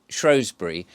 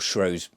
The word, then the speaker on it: Shrewsbury: about a hotel in Shrewsbury or shrose or Shrewsbury depending on how you want to pronounce it in um Shropshire now